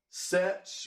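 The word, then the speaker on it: sech: cough rhymes with cloth sets rhymes with fetch and then this last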